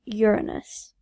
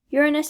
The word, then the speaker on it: Uranus: uranus planet number seven that's pronounced uranus uranus at a distance of